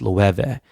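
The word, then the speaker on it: Loewe: and I asked them and he goes it's pronounced Lou Ewa and I see a Sat rocky [ __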